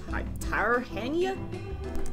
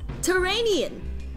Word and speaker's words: Tyrrhenian: Tarhania?